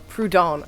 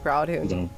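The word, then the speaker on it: Proudhon: you say his name prodone i always called him proud and that's wrong it's very wrong prodon that sounds better i love how if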